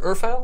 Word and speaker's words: Urfael: Or Urfael is how we pronounce the sword?